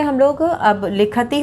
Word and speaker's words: लिखतः: तो अब यहाँ पे उच्चारण पे ध्यान देंगे, पठति, लिखति, धावति।